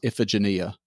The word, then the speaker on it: Iphigenia: the Google pronunciation, and it came up as Iphigenia. You're not going to figure it out from the spelling.